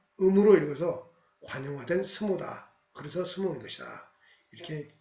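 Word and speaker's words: 相撲: 그래서 이것을 일본식으로 읽으면 쇼보 이렇게 읽을 수 있는데 이것이 오랫동안 관용적으로 쓰이다 보니까 단순화돼서 스모 이렇게 됐다. 그래서 상박을 일본식으로 발음하면 음으로 읽어서 관용화된 스모다.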